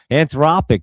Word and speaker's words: Anthropic: Anthropic. That's how you say it. That's it. Anthropic.